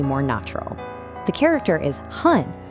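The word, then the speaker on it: 半: The character is han, pronounced han, and it just means half.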